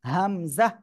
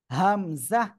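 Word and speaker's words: همزة: শিখবো এই অক্ষরটা কি কোন টান হবে না একই জায়গা থেকে সিম্পল উচ্চারণ হামজাহ হামজাহ সবাই একসাথে বলেন অনেকে উচ্চারণ করে কি জানেন হামজাহ এরকম বললে ভুল হামজাহ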